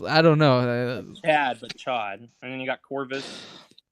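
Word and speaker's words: Ch'od: With Cyclops Dad and Chode or Cyclops whatever his name is.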